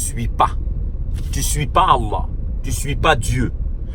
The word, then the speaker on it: Allah: C'est pas Allah, non, c'est Allah. En fait, c'est deux L qui ne se prononcent pas, qui se confondent.